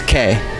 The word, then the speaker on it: que: letters they're not silent the word q q-u-e that's k are we living